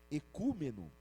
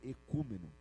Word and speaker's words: ecúmeno: Isso é ecúmeno, que é aquela palavra ali, né? Se escreve daquele jeito, mas se lê daquele outro jeito ali, tá? se escreve oico oumen, mas se lê eúmeno.